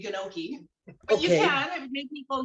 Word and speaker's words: gnocchi: is it yoki or noki y or m so it's a silent g so we don't we don't have to say gnocchi but you can make